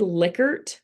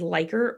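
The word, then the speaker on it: Likert: from this could be it's pronounced licker or licker type scales um but everybody says lier because they don't like the way licker sounds but these are multi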